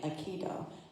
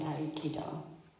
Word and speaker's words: Aikido: And in the United States, we pronounce it more like Aikido, but it's really Aikido. And I started reading more